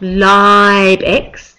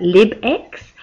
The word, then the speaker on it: LibX: had problems pronouncing um I think it's not live X the toolbar but lib X um somebody tweeted out